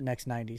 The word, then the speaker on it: NXT 90: So it's NXT 90, but yeah, we pronounce it Next 90.